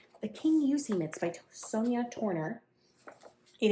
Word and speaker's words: Kingussie: Uh I would never in a million years have guessed that King Usee is how you say that word. The Kingussie mitts by Sonya Turner.